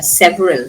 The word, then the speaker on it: several: Several. Several. We don't pronounce this e here.